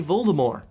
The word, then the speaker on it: Voldemort: it in the films they do not pronounce the T in his name they say Voldemort now I somehow reading